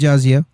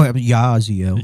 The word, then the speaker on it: Jaziel: I think y'all should, especially when it's on the IUIC Phoenix page, Jaziel. Oh, Yaziel. Yaziel. You just change it to a Y if you want us to pronounce it that way, bro.